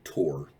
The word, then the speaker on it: Thor: ship the the stronghold of thor uh or tor is is honestly how it'd be pronounced the stronghold the stronghold